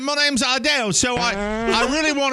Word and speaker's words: Adele: said my name perfectly he came and asked me how I say my name and I was like Adell they do Adele Adele